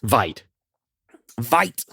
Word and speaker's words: Veidt: Lastly, Adrian Vett, a.k.a. Ozymandias. Vite. Thank you. Adrian Veidt.